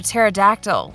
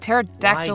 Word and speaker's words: pterodactyl: He said something something about a pterodactyl going to the bathroom and the P is silent. So, and that pterodactyl Why is do you 11. remember that? Because I like his jokes, Shion, okay? But pterodactyl is 11 letters.